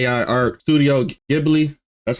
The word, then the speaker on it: Ghibli: So today, apparently I've been getting sent a particular video in general, mainly because this whole, I would say, AI art studio Ghibli, that's how you say it, controversy is actually going around like wildfire.